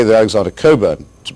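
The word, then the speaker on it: Cockburn: I should say that Alexander Coburn, to pronounce his name correctly, is a very valued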